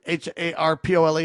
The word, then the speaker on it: Harpole: Brian um Harpole I think is how you say his name. H A R P O L E Harpole.